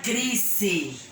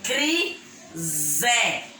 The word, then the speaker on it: crise: Por exemplo, crise. Eu não vou falar crise. É crise. Porque o si tem o som de Z.